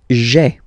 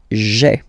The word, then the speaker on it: j'ai: Remember, when you combine this A-I, you get the E sound, okay?